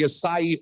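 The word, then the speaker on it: açaí: they we created the acai berry craze okay uh and we called it the Aki Berry for years because we didn't know how to say it uh so at least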